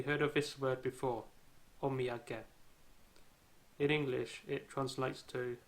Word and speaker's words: omiyage: example have you heard of this word before omiyage in english it translates to a souvenir and it is written and pronounced as of me again if you look